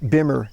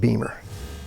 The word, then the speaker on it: Bimmer: you and maybe if you pronounce it Bimmer not Beamer we're saying the two